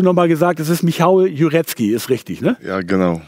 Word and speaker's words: Michał Jurecki: wir nicht genau wussten wie werden denn nur ausgesprochen jurecki jure michael michael dann hast du noch mal gesagt das ist michal jurecki ist richtig na ja genau so ist wird